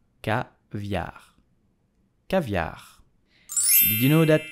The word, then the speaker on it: caviar: produces his own caviar, but how do we pronounce it correctly with a typical French accent? So you will say caviar, caviar, caviar.